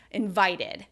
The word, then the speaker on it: invited: syllables well for us the only time we pronounce the past tense ed ending like thud is when the word ends in eighty or it ends in ad right invite right invited so we have that